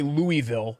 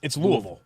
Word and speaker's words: Louisville: And I know some people say Louisville, but really it's Louisville.